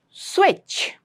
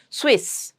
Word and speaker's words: switch: There's a very now nice strong cha sound at the end. Don't make it Swiss. A lot of people convert the cha sound into saw sound. Swiss. No, it's not Swiss.